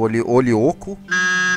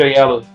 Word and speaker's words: Oyelowo: Eu não consigo falar o nome dele. Do Olioko, alguma coisa assim. É David Olioko, que também é um bom ator. É David Oyelowo.